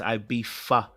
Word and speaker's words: Ibiza: And before Sean gets onto my neck, it's Ibiza.